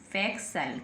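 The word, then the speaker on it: facial: के बाद में आईए अब टी को क्या पढ़ेंगे स क्या पढ़ेंगे स तो फैक्ल फैक्स सल एफ ए ई सी टी आई ए एल फैक्सल क्या बन गया फैक्सल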